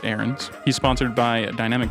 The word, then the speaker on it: Ahrens: channel here yeah absolutely Carter arens I believe they pronounce it erens he SP sponsored by